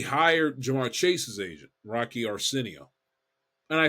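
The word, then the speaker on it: Arceneaux: you pronounce his name a r ceen e Au X oreno I think is how you pronounce that because the aux um is is pronounced o the Creole French whatever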